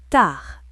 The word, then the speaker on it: tard: Tard, D muet.